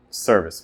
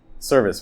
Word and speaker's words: service: Service, where's the stress? Service. To serve. Yeah, it's on the first syllable.